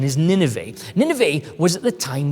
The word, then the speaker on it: Nineveh: in some context you may have heard it pronounced as nineveh but its proper pronunciation is nineveh nineveh was at the time the biggest city